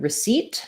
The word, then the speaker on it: receipt: for the e sound the p is silent and then we say the t so it sounds like